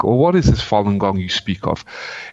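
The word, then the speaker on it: Falun Gong: like what is this Fallen gong you speak of it's a Chinese discipline deeply rooted in the Buddhist type of tradition of Martial Arts yoga Tachi and it's pronounced Fon gong it consists of moral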